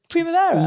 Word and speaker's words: Primavera: Good pronunciation as well from you. Primavera. Loads of Brits when we were there like, we're at Primavera, Tom. Or Primavera, that one's a popular one. Primavera. As in like Vera off the telly?